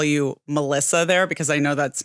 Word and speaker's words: Melissa: Is Melissa because that's, you know, how it's pronounced in Spanish.